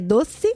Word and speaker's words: doce: É 12, porque eles também ir pro 12, que é doce. Doce, com a língua entre os dentes, né?